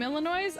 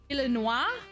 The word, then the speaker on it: Illinois: go oh my gosh when I had only read the name Illinois I assumed it was a French pronunciation Illinois I see it I